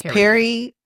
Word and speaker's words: peri: menopause oh we are Perry how do you spell that p e r i and then the menopause so it's Perry so that's pre basically